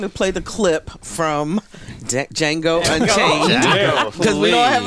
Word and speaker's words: Django: play the clip from Jango unchanged cuz we don't have enough time for the clip the D is silent the Quinton Tarantino movie